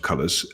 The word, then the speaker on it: Coolors: I'm guessing it's supposed to be said colors though. That sounds much better.